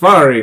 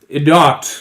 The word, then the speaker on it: Svarri: My name is pronounced Svarri, not Idot, like you said.